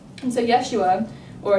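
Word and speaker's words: ישוע: what the New Testament writers said and so Yeshua or Yeshua is how Jesus's name is pronounced in Hebrew and the term H conf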